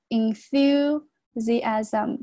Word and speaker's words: enthusiasm: was people's enthusiasm, 注意下这个单词很多同学会读错这个是 in, thu, 这个重音在这个地方这个 th 读作舌头伸出来 thu, enthusiasm, 这个是 z 的发音 asm, zm, 然后 about the